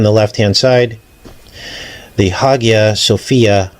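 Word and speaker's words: Hagia Sophia: left- hand side the Haya Sophia MOS it could be pronounced haia Sophia mosque and this is in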